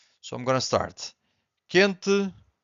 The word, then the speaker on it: quente: But if you have Q-U-E, the U is silent. Quente.